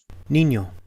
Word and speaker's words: niño: For example, la ñ es nueva y suena como ña, ña.